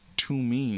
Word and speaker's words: Thummim: It's the pronunciation is tumim in the pronunciation, but he says tome.